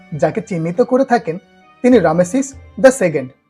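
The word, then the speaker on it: Ramesses: জল্পনার কল্পনা সেই দ্বিতীয় রামেসিসের ব্যক্তিগত জীবন নিয়ে নানা ফলক কিংবা প্যাপিরাসের পাতায় লিখিত ইতিহাস কি বলে বাংলায় রামেসিস লেখা হলেও ইংরেজিতে উচ্চারণটা আসলে রেমেসিস মিশরীয় এর নামের অর্থ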